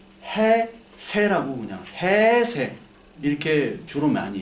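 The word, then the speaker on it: 平成: 일본은 쇼화 다음에 평성 헤이 세이라 하는데 어 이게 일본 할 때는 이게 헤이 세이라 이렇게 발음하는데 그거를 일본에서는 그냥 해 세라고 그냥 해세 이렇게 주로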